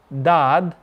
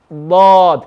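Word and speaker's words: ض: if i say if listen to this okay if i say dad my tongue is flat but when i curl it up lord can you hear that heaviness lord i know it's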